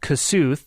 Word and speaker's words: Kossuth: Oddly enough, there's also a county called Kossuth, that's how we pronounce it, but it's named after Kossuth Lajos, the hero of the 1840s Hungarian Revolution.